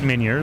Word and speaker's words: Meunier: Meunier. How are you doing today? I'm like, I'm doing fine. I pronounce it Meunier, but thank you for the French pronunciation.